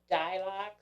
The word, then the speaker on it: Dylox: The only thing you can do about grubs right now is Dilox, and it's spelled Dylox.